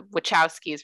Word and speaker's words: Wachowski: to make sure i said it right the wachowskis right yeah it's so much has keys yeah